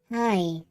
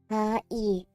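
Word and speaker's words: はい: The word hi is actually pronounced hi. Since ha-i. But since Japanese is a language spoken at rapid pace, the syllables tend to merge, so hi.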